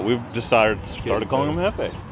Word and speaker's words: jefe: This is Jeff, but we've decided started calling him jefe. Jefe, because J is silent in Spanish.